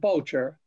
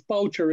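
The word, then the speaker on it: Bourchier: But in Ireland, they're called Boucher. And there's just other spellings. B-O-U-R-C-H-E-R is in Limerick as well. But he's I-E-R. And then in Bulgaria, it's Boucher as well. So that's the way it's pronounced in both Ireland and in Bulgaria.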